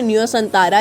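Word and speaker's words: Nusantara: बोर्निया द्वीप की भी एक लोकेशन है न्यूसेंटारा, इसकी प्रोनाउंसिएशन देखी मैंने, तो यही है, तो वही इसकी राजधानी बन चुका है।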